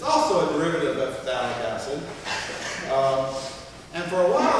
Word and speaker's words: phthalic: It's phthalic acid. That's PHTHALIC. It's one of those words with a silent PH in it.